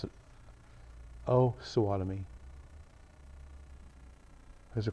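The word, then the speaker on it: Osawatomie: You want to pronounce it O Swattomy is a correct pronunciation.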